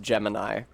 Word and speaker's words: Gemini: I didn't realize that it was actually pronounced Gemini. Or Jiminy, rather.